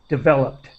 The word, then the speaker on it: developed: great and just uh the word developed with a t- sound at the end as quick as possible developed all right and so